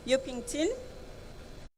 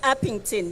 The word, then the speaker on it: Upington: to greet the community of um yukington I'm not sure whether I'm pronouncing the area correct it's upington yes Maybe in terms